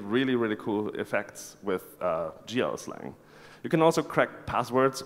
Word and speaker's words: GLSL: code is written in a language called GL slang or if you would spell it out it's GLSL so the GL shader